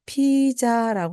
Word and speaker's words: pizza: 이때 피자라고 하는 말을요. 앞부분을 강하게 그냥 피자 또는 피자 이렇게 말씀하시면 됩니다. 핏에다가 강하게 발음을 해주시고 뒤에 부분은 써 또는 싸 하고 넣어주시면 됩니다.